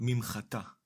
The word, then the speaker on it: מִמְחָטָה: Now, the word mimchatá, מִמְחָטָה. Let’s find the syllables. The first syllable is ‘mim’, the second syllable is ‘cha’ and the last syllable is ‘ta’. The syllable ‘mim’ is composed